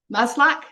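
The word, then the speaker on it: Maslach: Christine malash Mal malash whose name I cannot pronounce the woman who maslac masl maslac there you go okay maslac um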